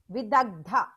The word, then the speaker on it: Vidagdha: The next one is Vidagdha. V-I-D-A-G-D-H-A. I'll spell it.